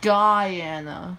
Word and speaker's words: Guyana: of the united states it's pronounced guyana bermuda is the territory